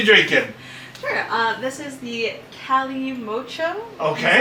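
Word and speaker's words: Calimocho: This is the Cali Mocho. Okay. That's how it's pronounced.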